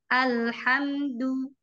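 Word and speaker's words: الحمد: tawasud dari mim tersebut jadi bacanya tidak boleh alhamdu tidak boleh juga memantul alhamdu Tapi bacanya alhamdu alhamdu ya cara tahajinya Ini sederhana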